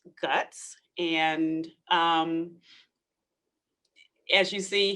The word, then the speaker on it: GHUCCTS: clinical and translational science and yes it is pronounced guts and um as you see here we kind